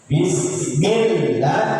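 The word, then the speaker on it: بسم الله: Ee nanti insyaallah kita bahas bismillah harus dit tekan karena itu ada apa namanya tasdid dalam huruf lam.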